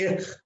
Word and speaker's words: ich: people will call it Ich. Every CH is pronounced as K in that.